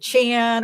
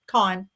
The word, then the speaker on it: Con: People pronounce it Chan or they think it's short short for Connor, but no, it's just Con and it's it's very fitting.